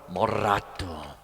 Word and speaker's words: moderato: And then you have moderato, got to roll your R, moderato.